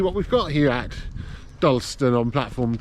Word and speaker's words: Dalston: Carlisle, which is, well, I call it Dalston, but they've been pronouncing it Dalston.